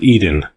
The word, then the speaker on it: Eden: for it led nowhere the word was eden to rhyme with seed in there were other fields